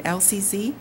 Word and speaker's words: Elsie Sze: thing about my name lcz that's how it's pronounced and people think it must be Library related LC sounds like Library of Congress working in the library